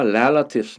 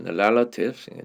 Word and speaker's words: relatives: 근데 요거는 발음을 조심하셔야 돼요. relative가 아니라 relatives. relatives.